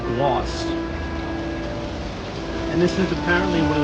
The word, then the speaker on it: Glace: So this kind of cart that you see right here, Glace, is actually pronounced gloss.